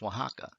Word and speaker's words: Oaxaca: state of oaxaca now this oaxaca is spelled differently than it sounds if you change it o to a w would be y and then x to the h as before becomes oaxaca but look at the